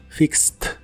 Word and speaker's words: fixed: en inglés es fixed se pronuncia con la i corta y no se pronuncia la e de hecho la Ed del final de esta palabra se pronuncia como t fixed fixed y usaremos el